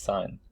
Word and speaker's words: sine: the sine ratio pronounced sine like a like the sign you see in the billboard so that's called a